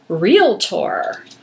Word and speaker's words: realtor: the rules is that you have to say it properly it's realtor well yes yeah that's not how i've said it all these years so it's realtor yeah but no it's real tour and you should use